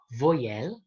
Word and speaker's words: voyelle: Tapi jadi kalau Y sebelumnya adalah O, maka bacanya wa. Oke, jadi bukan voyelle, tapi voyelle. Voyelle.